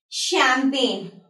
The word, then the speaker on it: champagne: So there are few words over here in which we won't be pronouncing the letter G while we are speaking these words. Fine.